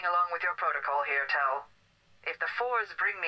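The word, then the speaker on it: Thel: I'm playing along with your protocol here, Tell. If the fours bring me an active... I'm sorry, it's pronounced Tell? You don't pronounce the H? It's not a th sound, it's a T sound?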